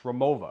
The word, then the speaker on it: Rimowa: Now, I know it's spelled Rimowa, but it's German. It's Rimowa, in case you didn't know.